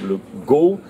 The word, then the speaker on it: Le Goff: prononcé qu un actuellement donc le goff si on suit si on lit la française si vous voulez mais en breton le prononce actuellement le go pour coup ces différentes